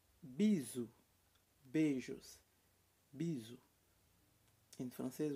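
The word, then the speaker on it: bisous: é a t o bizu beijos piso em francês você não precisar pronunciar o s no final pisos nós é bizu tá beijos b e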